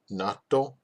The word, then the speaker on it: 納豆: So natto. See, I said it wrong the first time. I said it as one word.